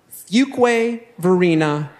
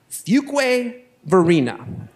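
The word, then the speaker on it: Fuquay-Varina: up in small towns I grew up in a place called fuk Verina North Carolina if you spell that you didn't ask but I'll spell it for you anyway that is f q u a y hyphen v a r i na a Fu Verina The Hyphen is very important to its name it is kept the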